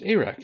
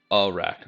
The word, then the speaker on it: Arak: My name's Arak from the Everfrost Fleck. Yeah, it's pronounced something like the beginning of the word arachnid.